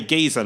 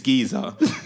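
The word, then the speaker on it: Güiza: goes, oh yeah, so the guy's name is spelled Guiza, but like the Z in like Spanish is usually like a TH, right? Yeah. So he goes, oh yeah, that Danny Guiza looks a good player,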